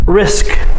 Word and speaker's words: risk: When you say it, singular, risk, you must say the SK sound at the end.